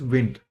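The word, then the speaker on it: Wnt: Then there is wind signaling pathway wt but it is pronounced as wind.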